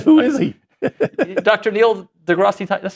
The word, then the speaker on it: deGrasse: Is it silent? No. Oh, it's just grass.